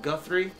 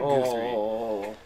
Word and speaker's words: Guthrie: And it's pronounced Guthrie, not Guthrie.